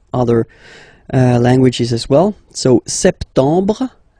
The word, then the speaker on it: septembre: So septembre. Remember this EM en septembre. You don't insist on the final septembre.